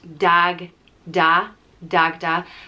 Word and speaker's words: Dagda: the hierarchy and and dagda is an easy one to pronounce and spell just dag da dagda sometimes you can have